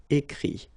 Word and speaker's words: écrit: But then phonetically it's I as well, because you don't pronounce the final T, okay? Écrire, écrit.